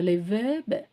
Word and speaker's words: les verbes: ஸோ லே வேர்ப், ஸோ லே வேர்பு. ஸோ இங்கே வந்து எஸ்ஸை நம்ம வந்து ப்ரொனவுன்ஸ் பண்ண மாட்டேங்கிறோம், லே வேர்பு.